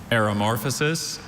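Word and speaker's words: aromorphosis: There is one of those infamous schwa sounds, second Can I have syllable. all the information, please? Aeromorphosis and aeromorphosis.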